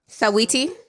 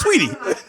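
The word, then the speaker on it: Saweetie: Sawiti? Yeah, I was like, Shush Sweetie. Because it is spelled Like, what are you Sawiti. talking about? Well, you know the girl Shush Sweetie.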